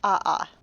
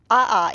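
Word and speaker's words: ʻaʻā: Now these names are Hawaiian, so hopefully I will pronounce them correctly. One is Pahoehoe and the other is A'a.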